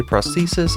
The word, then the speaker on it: prosthesis: prosthesis and yes that is how you say prosthesis i just looked it up this talisman increases